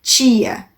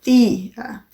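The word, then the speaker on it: tía: Tia. Esse T lá dentro. Tch, tch. Em espanhol, tem que ser pra fora. Tia. Tia. Por isso que é mais parecido com o som do nordestino mesmo.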